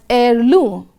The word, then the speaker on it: heirloom: which was a family heirloom now look at the word highlighted there the letter H is silent in pronunciation we pronounce it as air Loom again this word is